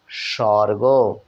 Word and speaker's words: স্বর্গ: এখানেও উচ্চারিত হচ্ছে না এরপরে দেখুন স্বর্গ এখানেও বন্ধুরা ব ফলা কিন্তু উচ্চারিত হলো না দন্ত সয় বয় রেফ